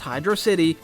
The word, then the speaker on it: Hydrocity: Hydrocity, and yes, it's pronounced Hydrocity, is the second act from Sonic 3.